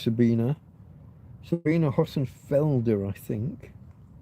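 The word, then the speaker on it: Sabine: Anton Petro uh the German lady Sabina Hosenfelder maybe sorry Sabina it's an E on the end rather than an A but it's pronounced Sabina Sabina Hosen Felder I think I would recommend there's a lady called Dr.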